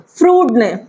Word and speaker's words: Freud: की दिया था सिगमंड फ्रूट प्रणाम करते हैं कुछ लोग इसको फ्राइड प्रोनाउंस करते हैं तो दोनों ही प्रनंसीएशन अपनी जगह वैलिड है तो मैं आपको बता